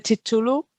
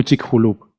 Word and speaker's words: Chicxulub: Vale, pues Y creo que ahora, la pronunciación, la X, es como la J. Entonces creo que es como Chicxulub. Porque es como la Chicxulub.